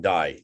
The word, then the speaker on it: Dye: And we shall do that. We shall do this. Guillaume D, or you can pronounce Dye if you want, but French it's the way it's supposed to be.